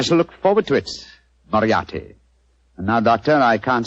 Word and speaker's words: Moriarty: Dear me, I have so much trouble with my name. People will either misspell it or mispronounce it. I'm afraid I'll have to begin calling it the way it looks.